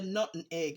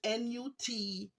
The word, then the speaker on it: nutmeg: People say nut and egg. It's not nut and egg. It's Nutmeg.